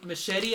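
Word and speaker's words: Muschietti: Directed by Andy Machete. I found out that's how it's pronounced.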